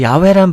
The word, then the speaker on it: 야훼: 그러니까 야훼란 발음이 어떻게 보면은 좀 더 정확한 발음이라고도 할 수가 있겠죠.